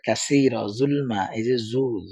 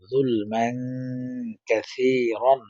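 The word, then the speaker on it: ظُلْمًا كَثِيرًا: পরে সেটা আলোচনা করব তবে কাসিরা জুলমা উচ্চারণ বলা এটাতে অর্থ বেশ কম হয়ে যাবে পরে জুলমান কাসির সা নরম করে কাসির আলিফ দিয়ে জবর রন কাসিরন জুলমান কাসিরন ওয়া জবর ওয়া লাম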